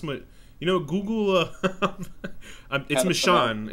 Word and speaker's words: Michonne: Why do you say McCone? Long up the comic, but I believe Google how to pronounce my. You know, Google. It's Michonne. It's Michonne.